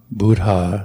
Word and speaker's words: Buddha: and then try to pronounce all the h's so dhamma buddha sangha of course when we're going full speed through these chants uh we uh we often just sort of slide through it without pronouncing h's but due to try to pronounce the h's that will be the correct way to do it and then another difficult